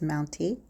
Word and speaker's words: MTNTE: not sure how you pronounce the brand name but I'm going to say it's mounty this is a Furniture